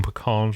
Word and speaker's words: pecan: So you pronounce it pecan, huh? Pecan, yeah. Mm-hmm. See, I go pecan with the vowel consonant vowel. Pecan.